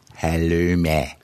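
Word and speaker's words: halloumi: You should go and eat some halumi. That's pronounced halumi.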